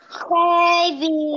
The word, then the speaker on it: heavy: La H suena como que fuera una J, ¿sí? Heavy.